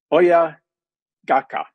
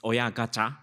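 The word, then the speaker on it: 親ガチャ: about, a Japanese phrase, oya gaka. I may not be pronouncing it well. Oya gaka. Dr. Ito, am I pronouncing that right, or perhaps you should pronounce it for me? Right, it's oya gacha.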